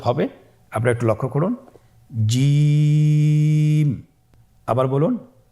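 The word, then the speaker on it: ج: আপনারা আমার সাথে করুন জিম মাশআল্লাহ আবার বলুন জিম আপনারা চেষ্টা করুন হয়ে যাবে এর মাখরাজ হলো জিহ্বার মধ্যখান তার বরাবর উপরের তালুর সঙ্গে লাগিয়ে উচ্চারিত হয় আপনারা পিকচারে ছবিতে দেখতে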